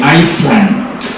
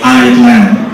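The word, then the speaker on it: island: First group of people say Iceland. Second group of people say Ireland. Ireland. This word we don't pronounce S. We say Ireland.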